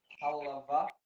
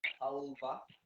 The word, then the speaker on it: halava: So the spelling is variable. Halava, halva, different ways of With pronouncing a it. W. And with a W, yeah. Instead of a V, sometimes it's halwa, halawa, like that. So different languages, different pronunciations.